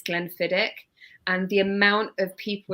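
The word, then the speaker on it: Glenfiddich: I basically were saying it's not Glenn fidich it's Glenn fiddick and the amount of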